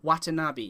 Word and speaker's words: Watanabe: Now, I apologize if I get this wrong, but I believe it's pronounced Captain Watanabe.